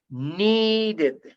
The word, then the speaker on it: needed: has a final D, like in, for example, need, when you pronounce need, huh? And you want to pronounce the, the past tense of the verb need, you know what you do? You have to pronounce id by the end. When you say needed, needed, created, you understand?